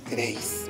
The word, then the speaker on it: queréis: ¿Dónde se encuentra la mayor fuerza de voz? Correcto, se encuentra en la última sílaba.